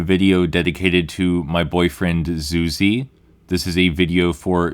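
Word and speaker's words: Zuzy: Zuzi, by the way, is spelled Z-U-Z-Y. It is not Susie. I know you might be hearing it that way.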